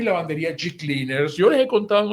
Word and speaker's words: G-Cleaners: la tintorería y lavandería G-Cleaners. Se escribe G-Cleaners y se pronuncia G-Cleaner.